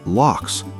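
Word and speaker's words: loch: They're called lofts, pronounced locks, from the Irish word for lake.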